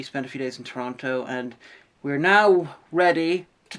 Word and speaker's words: Toronto: We went to Toronto for a couple of days afterwards, or Toronto. It's a city in Canada. Canadians, please explain to me where the second T in Toronto goes, because you guys don't pronounce it.